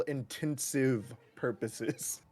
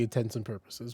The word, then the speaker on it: intents and purposes: there's multiple or not they are wrong they say for all intensive purposes not only that but